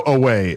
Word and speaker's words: Oweh: I do know Oweh is the pronunciation. Oweh.